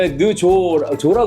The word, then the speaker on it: 느좋: 아, 이거 느조라 그래야 돼? 히읗 받침. 히읗.